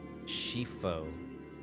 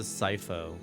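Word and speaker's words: Scifo: Shifo. Shifo. I would have pronounced it Sifo.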